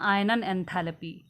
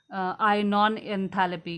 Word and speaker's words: आयनन एंथैल्पी: ठीक है, नेक्स्ट जो फीचर है वो है आपका आयनन एंथैल्पी। ठीक है, ये थोड़ा सा जो है इंग्लिश में स्पेलिंग इसने गलत दी है, इट्स नॉट आयनॉन एंथैल्पी, इट्स आयनन एंथैल्पी।